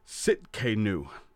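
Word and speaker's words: Tsidkenu: the Hebrew in it as well and Jehovah sitk a new is how that's pronounces TS idk en you Sitka new Jehovah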